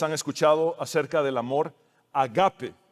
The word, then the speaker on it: agape: Seguramente muchos de ustedes han escuchado acerca del amor agape. Algunos lo pronuncian como ágape, el cual es la forma más elevada de amor, el amor divino, el amor incondicional, abnegado, profundo y perfecto.